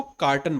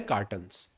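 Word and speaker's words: cartons: होते हैं ना उनको कार्टन बोलते हैं, कई लोग उसको कार्टून बोलते हैं। कार्टून नहीं होता, कार्टून अलग चीज़ होती है। करेक्ट वर्ड है कार्टन्स।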